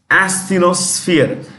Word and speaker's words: asthenosphere: semi-liquid layer, like called asthenosphere. It's a gummy layer. It's a semi-liquid layer. Asthenosphere. When you pronounce this, it is SF, not SP, SF.